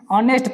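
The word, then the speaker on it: honest: हॉनेस्ट लिखा, ऑनेस्ट पढ़ेंगे, आवर पढ़ेंगे, और यूनिवर्सिटी,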